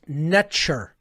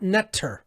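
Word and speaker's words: Netjer: Okay, NTR was actually pronounced netcher, not netter, as many people will pronounce it.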